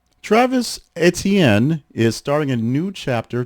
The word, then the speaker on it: Etienne: pronounced, with the explanation that it is not Etienne, more or less as it's spelled, but it is Etienne. Etienne.